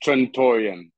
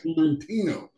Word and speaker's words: Trantorian: to this game and i keep forgetting the pronunciation of it it's trentorium yeah i i keep saying trent tarantino i keep want to say torentino so i want everybody to really understand this